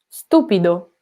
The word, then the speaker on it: stupido: Stupido, stupido. The stress is on the first, okay? It's not stupido, it's stupido.